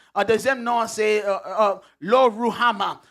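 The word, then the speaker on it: Lo-Ruhamah: Deuxième nom, the second name, deuxième nom c'est Lo Ruhama, or if you're pronouncing it in the true Hebrew it's Lo Ruhama. This is one of the ways they pronounce it.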